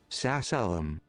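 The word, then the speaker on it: sacellum: Uh pronunciation. How do you say this? Sasselum.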